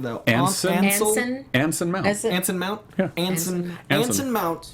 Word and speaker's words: Anson Mount: How do you pronounce his name, though? Anson. Anson Mount.